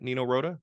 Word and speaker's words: Nino Rota: Nino Rota?